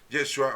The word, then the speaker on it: Yeshua: pero el hebreo en arameo original pues es yeshua o yeshua como lo quieran ustedes pronunciar yeshua Ese es su verdadero nombre de